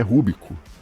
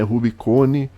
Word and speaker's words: Rubico: era um rio tá o nome dele é rubico rio rubico em latim em italiano é rubicone em inglês é rubicon e em Português é